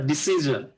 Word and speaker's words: decision: এটা হচ্ছে হবে ডিসিশন, ইউ can make a ডিসিশন, ডিসিশন জ উচ্চারণ হবে।